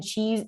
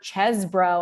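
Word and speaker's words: Chesebro: we've seen include uh Sydney Powell and Ken chees or chesbro I should say now I know how to to pronounce his name it's the cheese the cheese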